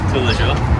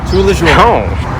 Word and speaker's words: Tous Les Jours: How do you pronounce it? Tous Les Jours. Tous Les Jours.